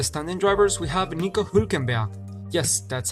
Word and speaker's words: Hülkenberg: To finish off with the standing drivers, we have Nico Hülkenberg, yes, that's how you pronounce it, who finished 17th in the standing, although he only raced twice this year.